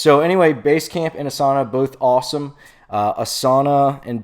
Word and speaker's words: Asana: also another cool one um also free like asana so you could check those out a s